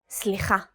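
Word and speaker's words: סליחה: Slicha.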